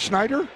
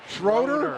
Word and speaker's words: Schroeder: How do you say Dan's last name? Oh, it's Schneider? Schroeder. Schroeder? Oh, I thought it was Schneider. It's Schroeder.